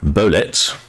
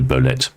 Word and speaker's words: Bolette: Sparks says that's ble it's a French name and it's pronounced to rhyme with Soviet he's just saying so it might be bolet or it could be